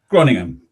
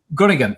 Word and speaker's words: Groningen: Sorry, how do you pronounce that? Groningen. Groningen, yeah, which is in the Netherlands.